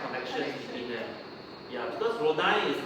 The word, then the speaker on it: Rodin: R-O-D-I-N, yes. It's pronounced as Rodin, not Rodin.